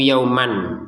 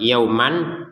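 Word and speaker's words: يومًا: Yauman tulisannya yauman, kita bacanya yauma kalau berhenti di sini.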